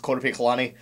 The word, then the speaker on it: Korpiklaani: mispronounce something for example I'm pretty sure the band's name is actually pronounced quot colani I do apologize I